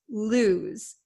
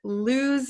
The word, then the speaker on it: lose: the pronunciation lose lose it's not Lo and it's not loose okay it's loose okay this s sounds like a z lose lose so what